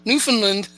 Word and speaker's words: Newfoundland: you may have heard the acquisition of signal Newfoundland, or acquisition of signal Newfoundland, Canada, which is they pronounce it Newfoundland.